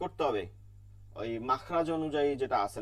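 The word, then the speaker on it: حاء: এরপরে হচ্ছে হা, এটাকেও কিন্তু করতে হবে, এটা কিন্তু আরবিতে, এটা বাংলায় নাই, এটা আরবিতেই করতে হবে। হা, কণ্ঠের মধ্যখানে চাপ দিয়ে বাতাস চলমান রাখতে হবে, হা।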